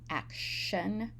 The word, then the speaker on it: action: words in this matrix in action the t is pronounced as sh action and in act and